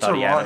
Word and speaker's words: Toronto: Like they emphasize that T. Do you think it's only people from Toronto that don't emphasize the extra T's in words? Because we just say Toronto. Like no, it's just Toronto.